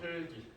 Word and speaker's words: 흙이: 흘기. 됐죠? 어떻게 된다? 앞에 있는 기억이 그대로 빈자리로 올라간다.